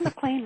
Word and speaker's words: McLean: There was a time when McDonald's had a burger that they called the McLean burger.